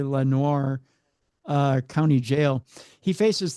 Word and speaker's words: Lenoir: Lenor Lenoir. It should be Lenoir. That That's the French pronunciation, but it's probably Lenoir uh County Jail.